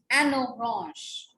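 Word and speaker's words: une orange: An orange. N sound being carried with O, the vowel, and we call it as an orange.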